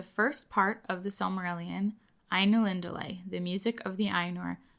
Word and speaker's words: Ainulindalë: I know even this title is a little bit intimidating to pronounce, but as far as I understand, it's Ainulindalë, like Ainulindalë, like you get it.